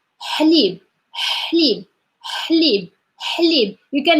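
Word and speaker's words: حليب: It's ha sound. We're doing nothing. It's just like your tongue is like flat, and in the middle is like really moving just slowly, and just like taking this, like that sound.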